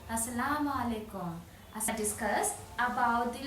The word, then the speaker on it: as-salamu alaykum: So, you say "As-salamu alaykum."